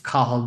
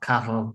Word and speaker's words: Cahill: And yes, it's Cahill, not Cattle, in case you can't pronounce that over in the British Isles.